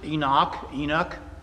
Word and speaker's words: Enoch: I pronounce it Enoch.